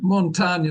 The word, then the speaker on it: Montaigne: Montaigne Medal.